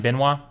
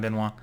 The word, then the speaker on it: Benoit: Tim Elliott versus Ryan Benoit. I hope that's how he pronounces it. I'm from Louisiana. That's how we pronounce him down here. So we're going to say Ryan Benoit. But yeah, man, we got